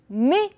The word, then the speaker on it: mais: On a mais. D'accord? Et faites attention, le S ne se prononce pas. D'accord?